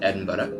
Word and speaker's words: Edinburgh: Yeah, it looks like Edinburgh, but the Scots pronounce it Edinburgh.